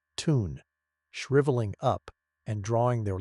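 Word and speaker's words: tun: They can enter a dehydrated suspended animation state called a ton pronounced ton shriveling up and drawing their limbs inwards.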